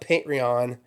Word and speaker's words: Patreon: it's called Uh patreon pronounce the T it's not patreon ponon it's not patreon it's patreon right right it's not patreon it's not Patron patreon patreon I always